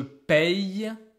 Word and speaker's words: paye: You can see here is an open sound every time. So I have the sound E. Paye, paye, paye. And suddenly it closes the sound, so I go back to E. Nous payons, vous payez, elle paye.